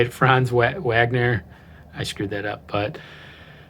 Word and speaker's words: Franz Wagner: va what what how do you say it franz wagner i screwed that up but after slow start